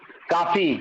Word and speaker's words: कॉफी: जरा, काफी, वो पीने वाला काफी नहीं, उसका उच्चारण कैसे करते हैं हिंदी में? कौ, कौ, थोड़ा सा जीभ को टेढ़ा करते हैं, ठीक है। कॉफी।